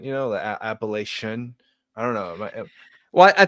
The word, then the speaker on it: Appalachia: pronounced the same way, like a TION, like caution, reflection. So they think it's Appalachian. They just instinctively like, oh, it's English. It's this suffix. That's how it's pronounced.